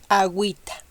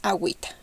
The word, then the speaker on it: agüita: When you see these 2 points above the u, you have to pronounce the u even if you see these 2 vowels. Okay, so here we pronounce it like güera y agüita. Güera and agüita.